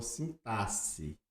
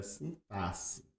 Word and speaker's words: sintaxe: Eh, sim, na todo mundo conhece por sintaxe. É uma pronúncia, não está errada, mas é uma pronúncia que está saindo de desuso, porque com a nova reforma ficou sintaxe, mas não está correto em falar sintaxe, mas é uma pronúncia que já está ultrapassada. O correto é sintasse, você pode pesquisar isso